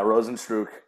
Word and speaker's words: Rozenstruik: Rosenstruck? Yeah, Rosenstruik.